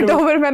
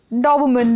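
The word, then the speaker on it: Doberman: कितने डॉबरमैन upset हो जाएंगे? सो सही उच्चारण क्या है? डॉबरमैन। डोबमन डॉबरमैन अब टोमेटो टोमेटो वाला है तो ये था पाशा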